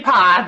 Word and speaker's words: Pock: It's actually Pa. The CH is silent. So I'm Pa, and I actually have